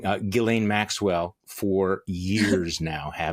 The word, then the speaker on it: Ghislaine: to pronounce it wrong, Ghislaine Maxwell for years now, haven't you? That's pretty close. It's Ghislaine, but yes, if you want to say it the French way.